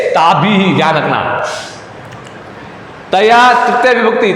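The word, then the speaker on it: ताभिः: विसर्ग को क्या उच्चारण होता है? ह होता है, और विसर्ग के अंदर भी ई की मात्रा को जोड़ना है और बोलना, उच्चारण करना है। ठीक है, ताभी ही ध्यान रखना।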